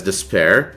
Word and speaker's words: D'Spayre: Now, the pronunciation of Despair, the villain name, has varied from one person to the other, but it is commonly pronounced as Despair, and it kind of